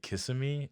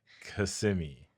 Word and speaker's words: Kissimmee: So for all those non-Florida individuals, a lot of people say Kissimmee. Nobody's kissing you. Like, nobody's kissing you. It's Kissimmee. You just let it flow.